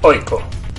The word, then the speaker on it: AIK: de la mano de aiko asna que por cierto como veremos enseguida se pronuncia oiko así explicaba el propio